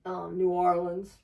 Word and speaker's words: New Orleans: New Orleans, for those who actually say it right.